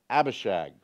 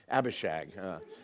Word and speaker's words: Abishag: with a terrible name Abishag if you parents if you have any more children do not name your daughter Abishag okay it rhymes too much with hag and you know it's